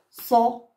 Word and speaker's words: ص: Alors, je répète encore une fois, faites très attention, ne confondez pas harf sad qui est gonflé à harf sin qui est léger. Regardez quand je prononce so, c'est, so, c'est. D'accord, les enfants?